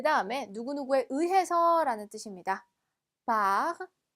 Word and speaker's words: par: par, par. r까지 발음해 주시고요.